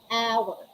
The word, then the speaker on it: hour: a little um though the first letter of the word hour is a consonant but when we are going to use the article or and we have to consider the sound we're looking at the sound not at the letter itself we're going to consider the sound and the sound of our is ah which is a vowel sound hour the initial side